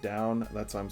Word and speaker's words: Dawn: choso language it's actually if you pronounce it like the word down like looking like down it's it's um it